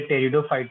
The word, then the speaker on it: pteridophyte: ये टेरिडोफाइट है, की साइलेंट है।